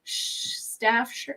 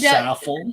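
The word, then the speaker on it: Saffell: Staff shirt? No. W Be Saffel.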